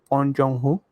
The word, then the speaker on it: Bong Joon-ho: seen anything from Little Woman, and I have Bong Joon-ho. That's how you pronounce it.